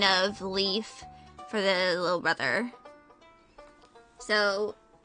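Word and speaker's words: Leif: specific it's a character whose name is literally Leaf l i e l e I forgot the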